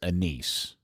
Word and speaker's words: Enes: And you also officially found out that the pronunciation of his first name is Anis. It's Enes, the same as it. They misprinted it on the preseason lineup. It's always been Enes.